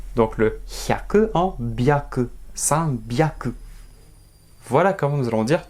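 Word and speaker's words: 三百: Nous avons donc san hyaku, la prononciation qui aurait dû être normale, mais le japonais il va dire san byaku.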